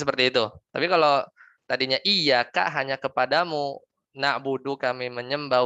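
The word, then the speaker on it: إياك: Kita baca tidak tasdid. Ya kan kalau bacanya nggak tasdid berarti kita menghilangkan huruf. Ya kita baca iyyaka na'budu wa iyyaka nasta'in.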